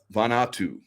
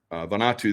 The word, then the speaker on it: Vanuatu: I believe it's pronounced Vanuatu. Vanuatu, there was a huge earthquake, or not earthquake, but a volcano that blew massive.